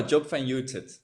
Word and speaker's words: Job van Uitert: no, Job van Uitert, but that's fine for me if you pronounce it like that.